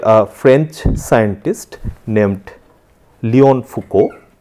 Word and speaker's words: Foucault: So, that was first done by a French scientist named Léon Foucault. Do not go by the spelling, the actual pronunciation will be Foucault, and that was first demonstrated in 1951.